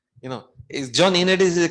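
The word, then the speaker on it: Ioannidis: the director here uh Johnny Unitas he he yeah it's a Greek name you know is John unit is the correct way of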